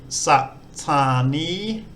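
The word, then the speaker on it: สถานี: So Thai's put on sort of an added in between them. So this word here will be satani, which means station.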